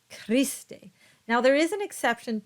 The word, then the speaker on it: Christe: Next is the letter H, and H is silent. So this word is pronounced Osana. And these words are pronounced Cherubim, Sabaoth, and Christe.